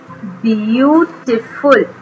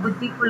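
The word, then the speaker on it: beautiful: रेड, ब्यूटीफुल, ब्यूटीफुल, ब्यूटीफुल, या अगर उसको ब्यूटीफुल कहें या ब्यूटीफुल कहें, बुद्धिफुल कहें तो रॉन्ग है, ब्यूटीफुल, ब्यूटीफुल।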